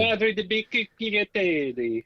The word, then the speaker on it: Ladri di biciclette: Ladri di biciclette.